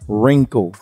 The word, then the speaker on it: wrinkle: root ring Ripple ritual wrinkle okay the W is silent we're going to be